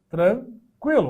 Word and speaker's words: tranquilo: ó tranquilo tá tranquilo era escrito com treinar tranquilo ó nos dois pontinhos aquele trema não tem mais o trema Mas eu continuo pronunciando com o seu existe isso né eu vou falar tranquilo ai Tá tranquilo né tranquilo continua com esse mesmo som mas a coisa aqui